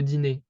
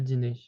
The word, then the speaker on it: dîner: However, in that case, it basically does nothing. You would say le dîner. The E is pronounced the same way, le dîner.